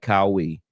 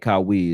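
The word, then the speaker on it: Qawi: But Dwight Kawi is is uh and it's spelled Q A Wii is his last name.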